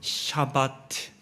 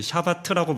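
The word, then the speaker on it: שבת: 어, 안식을 뜻하는 히브리어 샤바트. 이게 발음이 좀 어려운데요. 그 샤바트라고 보통 하는데 샤바트 이게 좀 어렵습니다.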